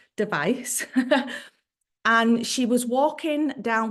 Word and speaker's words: Device: name was Allison device some people pronounce it devis but I'm a wyb and I don't device and she was walking